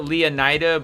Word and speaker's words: Leonida: I know everybody pronounces it Leonida, but it might be pronounced Lake Leonita.